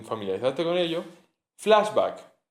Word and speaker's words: flashback: Flashback se escribe como en inglés, se pronuncia como en inglés, crudo.